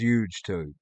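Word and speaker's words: UGETube: a place called ug2 you would pronounce as huge tube but it's u g e tube it's like a u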